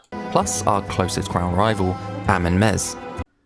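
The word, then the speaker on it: Amenmesse: So the exact pronunciation of this guy's name is open to a little bit of flexibility because we do see it in a couple different ways. But I've been going Amen-Mesa because that's sort of an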